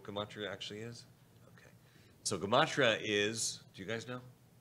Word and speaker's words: gematria: Gematria is, it sounds a little bit like the word, what word does it sound like? It sounds like the word in English. Geometry. It sounds like geometry, right?